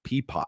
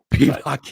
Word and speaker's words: Piedmont: Peapot. He fucking said Peapot. I'd forgotten how it's correctly pronounced, though. Piedmont is a max wager now.